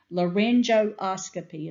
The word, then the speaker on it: laryngoscopy: all some of these words are hard to pronounce laryngoscopy is how you say it unless a spinal